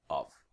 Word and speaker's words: of: we have of then we have off okay now there are quite difference of as a like a V sound normally and then off now when we pronounce quickly the word of can become ah just like our little friend weird schwa it's like ah yet there no let's